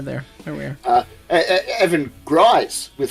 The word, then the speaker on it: Gries: Evan Gries with $5. Everyone forgets his last name's German. Lol. Gries rhymes with Heis.